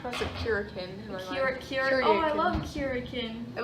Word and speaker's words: Kuryakin: I would pronounce it Curikin.